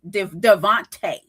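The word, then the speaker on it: DeVonta: touchdown pass to Javant Devonte Smith. Yep. Devonte Smith. Yeah, Devonte Smith got a touchdown. Some people say Devont, but it's Devonte.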